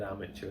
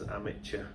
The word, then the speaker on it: amateur: issue with the word amateur as well but it was more about how it's said it shouldn't be said as amateur it should be amateur okay oh right it's actually a French word espresso espresso kind of